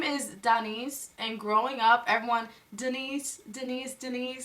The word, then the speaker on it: Daniece: It's Daniece, D4N13C3, Daniece. Put it on the screen in big letters. It's D4N13C3. My name right there, Daniece.